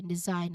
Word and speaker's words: design: This is design actually design. Okay? Silent letter G.